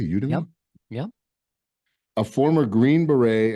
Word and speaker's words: Udemy: courses on LinkedIn skillsoft and udemy am I pronouncing that correctly you to me yep a former Green Beret and founder of